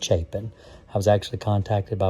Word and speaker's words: Chapin: and I'm going to say that it's not Chapin, it's pronounced Chapin. I was actually contacted by one of their salespeople and they explained to me that it's not pronounced Chapin, it's Chapin, because all these videos have already been recorded.